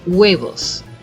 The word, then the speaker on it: Huevos: most of the time people forget that they age in Spanish is silent so people tend to say huevos right but it's huevos but I don't know